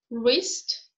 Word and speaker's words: wrist: It is not pronounced when it is followed by R, as in wrist, right, wrong, and Greenwich and Norwich.